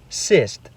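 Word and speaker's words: сесть: If the hard sign is removed, it becomes sist, which means to sit.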